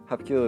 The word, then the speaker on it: Hapkido: Hapkido is also a three-syllable word that is broken down as such.